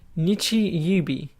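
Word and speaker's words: 日曜日: However, it was pronounced Nichi Yubi. This means the first sun is pronounced Nichi and the last is Bi.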